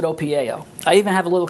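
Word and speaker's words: OPIAO: you practice that well opi i pronounce it opio i even have a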